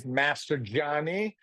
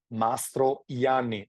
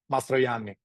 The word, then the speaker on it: Mastrojanni: The name of the winery is not Mastrojanni, is Mastrojanni. The J you read as an I. Yeah, Mastrojanni.